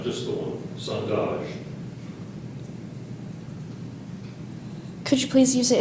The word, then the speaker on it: sondage: It's a noun, Are there any alternate pronunciations? not just the one. Sondage.